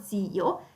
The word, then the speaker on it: zio: Se l'accento termina, vedete qui zio per esempio, zio, vedete l'accento cade sulla i, allora il plurale farà zii,